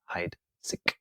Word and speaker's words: Heidsieck: ambassador at Charles Heidsieck, pronounced Heidsieck Champagne. Very, very good. Thank you. I hope it's the right pronunciation. It's a little German action there.